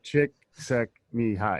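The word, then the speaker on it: Csikszentmihalyi: his last name i i had to spend time learning how to pronounce uh shiksek mihai i'm not going to attempt it yeah that sounds right it's like chick suck me high it's actually not that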